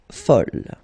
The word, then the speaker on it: folle: And here is the second masculine form, and it's folle. And the feminine form is folle. Okay, same thing here, same pronunciation, but then you write them differently.